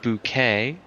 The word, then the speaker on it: Bouquet: It's pronounced bouquet.